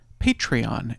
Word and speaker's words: Patreon: Patreon Patreon is how you say that word at the link in the show notes.